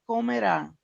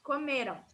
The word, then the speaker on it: comerão: comemos, ele ou elas comerão. Perfeito. Perfeito. Aí só lembra que a pronúncia para o comerão é diferente. Comeram, tá? No passado. Comerão seria no futuro.